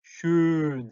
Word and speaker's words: schön: 오 umlaut는 어떻게 한다 그랬죠? 오라고 입을 쭉 내민 상태에서 입 모양을 그대로 두고 입 모양 벌어지면 안 돼요. 입이 양쪽으로 벌어지면 안 되고 오 한 상태에서 소리만 이를 낸다는 느낌으로 하니까 으, 다시 한번 요걸 그대로 해서 슌 하면 되겠죠.